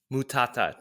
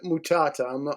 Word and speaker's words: Mutata: a great guest here with us today mutata did I pronounce the last name correctly you got it you got it right very difficult to pronounce but yeah it's mutata I'm originally Zimbabwe wow okay cool so when